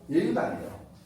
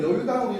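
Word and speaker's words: 與猶堂: 다산의 글을 모은 그 전집이 여유당전서라고 많이 읽는데 다산의 강호가 바로 다산이 자기가 강호를 지쳐 있면서 다산의 강호가 예유당이에요. 이걸 여유당으로 읽으면 안 돼. 원래 예유당이야.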